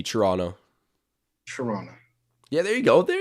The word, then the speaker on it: Toronto: of toronto i'm sorry is it toronto or toronto toronto it's just a silent t toronto toronto yeah there you go